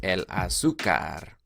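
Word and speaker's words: azúcar: azucar el azucar nasi accent over the you so you pronounce a el azucar la cuchara la cuchara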